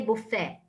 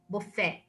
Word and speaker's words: buffet: we have the tea but we would say buffet buffet so this one is the french the french